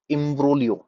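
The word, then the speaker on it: imbroglio: the next word is एम्ब्रोलियो एम्ब्रोलियो ji silent एम्ब्रोलियो an extremely confused complicated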